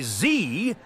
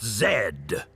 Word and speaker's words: Z: We'll say Z and not Zed. But there's a lot of history there on Zed versus Zee. Canada, being a member of the Commonwealth, still adopts UK English pronunciation of Zed in our vocabulary, as